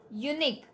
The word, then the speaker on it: unique: Here unique, there should be an as per the rule, but here you, again it's a consonant sound even if u is a vowel.